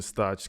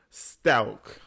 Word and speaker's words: Stauch: no no no okay somebody in the comments had told me they losing their mind because I'm saying this lady's name wrong it's latisa Stout I think that's how you say it Stout it's a weird ass